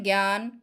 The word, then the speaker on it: জ্ঞান: গ হচ্ছে কি জ্ঞান আ কখনো এ এর মত উচ্চারিত হয় কখন যখন এই বর্গীয় জ ইয় সংযুক্ত থাকে এখন আমাদের লাস্ট প্রশ্ন